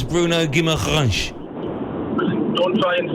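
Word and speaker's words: Guimarães: It's Bruno Guimaraes. Oh, is it? How you pronounce?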